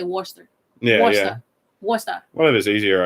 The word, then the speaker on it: Worcester: It's spelled like Worcester, but they'll say Worcester.